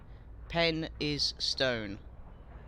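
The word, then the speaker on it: Penistone: scotland and cause chaos it's pronounced pen is stone i know edward i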